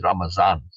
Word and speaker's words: Ramadan: it's the end of Ramadan I know it's spelled with a d but beina pronounces it with a z now maybe elsewhere in